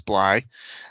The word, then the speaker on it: Bly: pics apologized last week i pronounced your name wrong it's bly um so where i